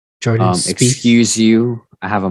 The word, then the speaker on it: Jordan Spieth: Jordan Spieth.